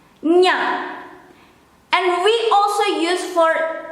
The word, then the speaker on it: nya: How to pronounce this is the same or similar when you have to pronounce kanye, nye. You change the e into a, nya, nya.